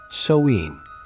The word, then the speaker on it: Samhain: Samhain, pronounced Samhain.